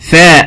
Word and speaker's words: ثاء: ما نخرج فيها لساننا، لازم نطلع لساننا في حرف الثاء. ثاء ما ينفعش ثاء، لو نطقت من غير ما اطلع لساني هيبقى سين، لكن اطلع لساني يبقى ثاء.